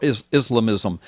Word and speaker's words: Islamism: The title is The Baffling White House Embrace of Radical Islam, or Islamism.